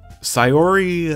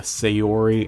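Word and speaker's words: Sayori: know pronounce differently are sori and natsuki sori uh I just try to pronounce like I'm pretty sure it's how it would be pronounced in Japanese and same with natsuki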